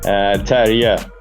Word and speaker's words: Terje: Terje.